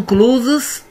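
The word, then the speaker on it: clothes: عشان تبقى تصريف تالت، وما بنطقش الاس بتاعت كلوز على فكره.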